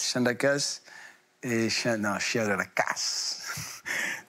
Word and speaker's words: Chien de la casse: Et Chien de la casse. Moi, il se prononce comme ça, il faut bien insister.